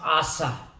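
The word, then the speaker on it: עשה: और दूसरा जो शब्द है गॉड मेड मैन, और मेड का जो अर्थ होता है, the word made in Hebrew means आसा, ASAH, आसा, H जो है वो साइलेंट है इसमें।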